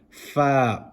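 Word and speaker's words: ف: Fa, nice and easy. The upper teeth touching the bottom lip.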